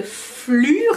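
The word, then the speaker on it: Phlur: Donc c'est la marque Flur, ça s'écrit P-H-L-U-R, et c'est vendu chez Sephora Canada.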